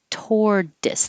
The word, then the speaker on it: tortoise: turtle same situation turtle tortoise tordus the t changes to a d tortoise shell tortoise shell